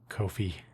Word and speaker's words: Ko-fi: I say Ko-fi because it's not spelled like coffee. It's a unique, unusual spelling.